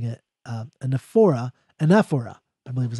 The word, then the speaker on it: anaphora: hope I'm pronouncing it right, because I keep mispronouncing it, anaphora, I believe is how you pronounce it, anaphora.